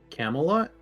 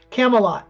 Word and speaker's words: Camelot: uh Camelot yes yes say it again Camelot Camelot that's how you say it Camelot I'm dyslexic okay it looks it looks one way to say it but it doesn't sound right Camelot got it I